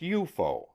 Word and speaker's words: UFO: name unidentified flying objects UFO pronounced eupo for short officially the